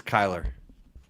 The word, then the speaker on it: Kyler: How do you say his first name? I'd say. It's Kyler.